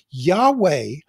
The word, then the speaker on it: Yahweh: Yahweh is the best understanding that we have about how I am who I am, YHWH, should be pronounced.